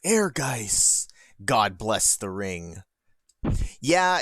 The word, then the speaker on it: Ehrgeiz: so you can even see that's how it's pronounced air guys god bless the ring yeah and we'll we'll